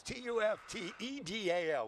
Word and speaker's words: Tuftedal: That's not how you say it. That's right. It's Tuftedal.